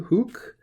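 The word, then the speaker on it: huc: little bit on hook this is a long u hook not just here although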